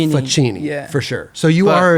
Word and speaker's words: Facchini: Can you pronounce it again? Yeah. Faci.